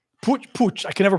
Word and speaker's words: putsch: I know the name, but I'm forgetting what the beer hall putsch.